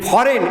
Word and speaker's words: foreign: In foreign, FOREIGN, G is silent.